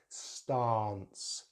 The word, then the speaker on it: stance: Now we have in British English the long vowel sound R, R. So we have stance, stance. In American English, they use a short vowel sound, stance, stance.